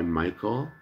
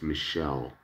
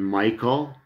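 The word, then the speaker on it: Michele: funny i go by michael and yet my name my first name is spelled m-i-c-h-e-l-e which you would pronounce michelle but it's an italian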